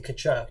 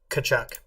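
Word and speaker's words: Tkachuk: you nailed it and that that was Matthew kachak number 19. yep okay can somebody look up how to spell kachuk because I am going to butcher it okay t-h-a-c-h-u-k t-k-a-c-h-uk yep there we go kachak that's how you spell it it doesn't that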